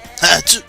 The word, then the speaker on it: Atsu: Donc nous avons Atsu, qui, à chaque fois qu'on prononce son nom, on croit qu'on éternue. Atsu!